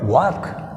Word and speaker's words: walk: What is the word, walk, l is silent.